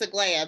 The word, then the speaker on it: Aglaya: You're pretty close. It's Aglaya, but you can say Aglaya. I take Aglaya also because it's actually a technical pronunciation.